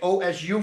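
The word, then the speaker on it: osu: Yeah, it's Japanese. It comes from two words, oi and shino. And they made o su from it.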